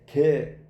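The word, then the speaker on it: γῆ: 이 땅이 헬라어의 개, 꽃게 그런 단어의 개예요. 꽃게는 아니고 그 발음을 하면 개.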